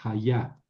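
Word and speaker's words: הָיָה: Con acento en la segunda. Haya es el verbo ser o estar.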